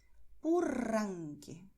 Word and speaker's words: Purranque: Entonces nosotros diremos en español Costa Rica, Río, Purranque. ¿Ves? La lengua vibra, está blandita, ¿vale? Solo se deja llevar por el aire que es expulsado con fuerza.